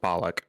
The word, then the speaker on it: Bullock: Actually, I think it's spelled with a U. That's pronounced bollock.